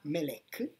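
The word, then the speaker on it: מלך: E si legge male a con Malak, che si voglia. Perfetto. La stessa parola, M-L-K, se la leggiamo non in quel modo, ma Melek, vuol dire re.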